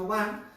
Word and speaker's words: Aubin: es el códice Oban, o se escribe Aubí, se pronuncia Oban, y este códice maravilloso,